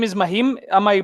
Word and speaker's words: Mahim: So you said your name is Mahim. Am I pronouncing it yet? Right? Yes. Mahim, right?